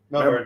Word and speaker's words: Melbourne: Melbourne. Yeah. Yeah, you just say the last part really fast. Yeah, okay. Melbourne.